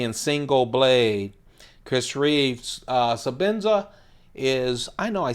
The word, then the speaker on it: Sebenza: bought my first ten so Benzes and didn't know so Benson so maybe that's why I keep saying it right sebenza Zulu for work its